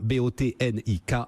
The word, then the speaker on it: Botnik: avec les clients aulas ça s'appelle botanique comme ça se prononce avec un car à la fin bo tn ik romain achard merci beaucoup